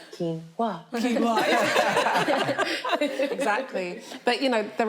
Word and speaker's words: quinoa: So one of the biggest sources of protein is quinoa, or quinoa. So I think everyone pronounces it different. I pronounce it the right way, quinoa.